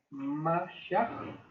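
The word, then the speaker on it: משיח: Y Mesías, del latín bíblico Mesías con doble S, y del hebreo Mesia, la pronunciación aproximada sería Mashiach, que significa también ungido.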